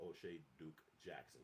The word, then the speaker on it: O'Shea Duke Jackson: If you want to rock his show, it's called O'Shea Duke Jackson, just like I spoke, just like it's spelled.